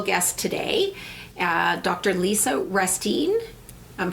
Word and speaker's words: Restine: Lisa Restine. I'm pronouncing your name right, I hope.